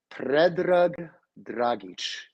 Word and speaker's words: Ped Dragich: my real name is Ped Dragich. That's my real name. That's the way you would say it.